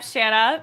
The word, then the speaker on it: Shanna: Yeah, and I'm Shanna, rhymes with banana.